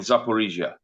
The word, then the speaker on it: Zaporizhia: And we've been through them already: Luhansk, Donetsk, Kherson, and Zaporizhia, as the Russians would pronounce it.